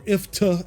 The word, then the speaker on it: IFTTT: Like there were a lot of automated tweets I set up through IFTTT, or IFTA, as I have learned to pronounce it from some people.